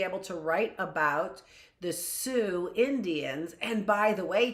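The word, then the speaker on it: Sioux: And by the way, Travis, they're the Sue Indians, not the Suez. It's the Suez Canal. It's the Sue Indians. I was like, that doesn't sound right. I know how it's spelled S I O U X. It's Sue.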